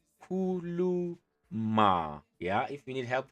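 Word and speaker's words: khuluma: And how you say it, kuluma, kuluma.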